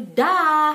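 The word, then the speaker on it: dag: Di sini tulisannya dah pakai g, tapi bacanya gini, dah. Mesti ada kayak reak-reak kayak gitu ya, lendir di sini, dah gitu. Karena g itu kan dibaca ke, he gitu, jadi dah.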